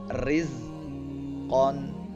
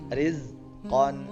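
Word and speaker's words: رزقا: Nah, kalau misalkan tarqiq artinya ini tipis ya, artinya ini tipis. Jadi rizqan, rizqan, min khairin, min khairin, ashrin, maridon.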